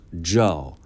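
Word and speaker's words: 曌: One famous example was the character she chose for her own name, Ji, pronounced Zhao, a character she invented herself.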